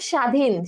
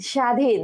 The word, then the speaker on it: স্বাধীন: সো এরপর দেখো স্বাধীন, স্বাধীন, তাহলে আমরা কিন্তু প্রথমটা দেখো যেভাবে বলছি যে এভাবেই কিন্তু প্রথমে যে উচ্চারণ আছে এটা কিন্তু হবে না, প্রথমে যে যুক্ত ব আছে এটারও কিন্তু উচ্চারণ হবে না, ঠিক আছে।